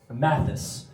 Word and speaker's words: Mathis: Is it Matisse? Oh, that's going to be tough for you. Say it like an American would. Mathis.